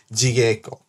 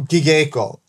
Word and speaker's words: Jigeiko: It's not Gigeiko or whatever. Alright? Gigeiko. There's no soft G in Japanese. Alright? There's no soft G. If it's a J sound, it's a J.